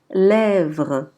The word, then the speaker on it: lèvres: V avec R est prononcé vre, vre. Donc on dira lèvres, lèvres. Pour la lettre W, quand